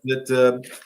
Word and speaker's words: Miskowitz: Is it pronounced? Miskowitz. Missowitz? Miskowitz.